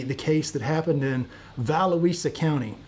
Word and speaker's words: Volusia: case that happened in valuesa County I've been told it's Volusia County in Florida but I pronounce it valuisa because it makes more sense to me from the south here